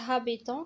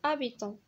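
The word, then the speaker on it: habitant: بطبيعة الحال الاش دائما في الاول ما كتنطقش، ما كنقولوش هابيتون كنقولو ابيتون.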